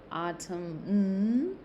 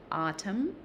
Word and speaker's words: autumn: all right it's not autumn with the n the n is silent there so autumn which is also called fall, right?